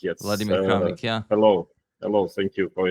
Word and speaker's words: Vladimir Kramnik: Is that pronounced correctly, Vladimir? Yeah. Vladimir Kramnik, yes. Vladimir Kramnik, yeah.